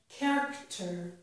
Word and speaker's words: character: At the beginning of some words, CH does sound like k. Here are two examples. The word chemistry and the word character both make the sound k with CH.